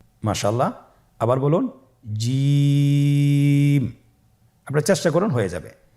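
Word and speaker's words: جيم: জিম হরফটি বারিক হরফ, এটা উচ্চারণ করতে হবে 3 আলিফ টেনে। দেখুন আমি কিভাবে উচ্চারণ করছি, আপনারা আমার সাথে করুন জিম। মাশাআল্লাহ, আবার বলুন জিম।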